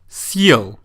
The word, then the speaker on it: Съел: Съел. The hard sign plays a very important role here because it signals that the letter «е» should be pronounced with the «y» sound.